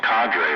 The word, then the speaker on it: Cadre: Yeah, I think it's pronounced cadre, right? Yeah, C-A-D-R-E.